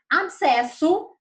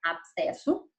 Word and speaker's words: abscesso: Abscesso, olha, essa palavra eu tenho certeza que muitos tiveram dificuldade para escrever. O B é mudo, né? Abscesso, com SC e depois 2 S.